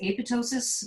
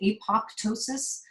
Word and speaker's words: apoptosis: the term apotosis uh it's actually pronounced apotosis it's Greek um but you will hear people say apoptosis I cringe when I